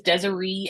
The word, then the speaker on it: Desiree: So first, my name is Desiree, long E sound at the end.